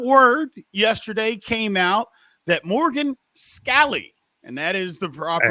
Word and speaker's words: Morgan Scalley: so we got word yesterday came out that Morgan scall and that is the proper pronunciation is the coach in Waiting in Utah